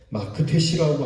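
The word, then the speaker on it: מכתש: 근데 오늘 성경은 하나님께서 그 어문 그리고 막데스의 거민들을 그렇게 멸망시키겠다고 말씀하는 거예요. 어문에 비하면 남쪽인 이 막데스는 예루살렘 전체의 멸망을 의미하면서 마크테시라고 하는 히브리 발음으로 들리는 이 곳이 거룩한 성소라고도 일컬어집니다.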